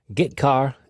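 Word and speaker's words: getchar: i o functions are git car and put car that's how i pronounce them git car fetches a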